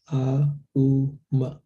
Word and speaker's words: Om: Om is pronounced when you chant it as a mantra, it is pronounced as A-U-Ma. Like that. Deep breath. Om Namo Bhagavate Vasudevaya. Om Namo Bhagavate Vasudevaya.